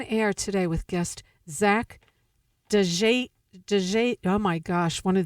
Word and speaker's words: Djanikian: If you just forget about the D. Djanikian.